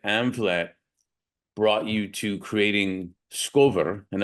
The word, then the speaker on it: SCOVR: So with that said, share then how your experiences at Amvlet brought you to creating SCOVR. And am I pronouncing it right, SCOVR? So it's pronounced Scover. SCOVR, okay.